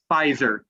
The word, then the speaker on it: Pfizer: Your pronunciation is really good overall, but the one word that you messed up a couple times, it's not Pfizer vaccine, it's just Pfizer.